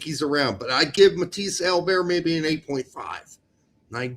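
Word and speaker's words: Matthias Albert: The best of all the rest is Matisse Albert. So please get out there and pronounce it as Matisse Albert, please.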